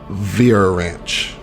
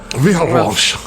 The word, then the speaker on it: Vheiransch: the name of Commandant Vera Ranch. I'm pretty sure I'm How do saying you spell that. that? VHEIRANSCH. Whoa, what? That was random letter. VHEIR. ANSCH. Sure, Yep. there's that extra R in That's there.